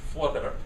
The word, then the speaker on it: Voorwerp: Now the Voorwerp, or she told me how to pronounce it, Voorwerp, there's like 4 or 5 syllables in there.